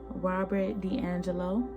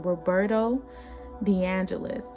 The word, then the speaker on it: Roberto De Angelis: the golden universal by robert d'angelo d'angelos i'm sorry robert robot roberto i'm so sorry i was saying his name wrong roberto deangelis is his name and this is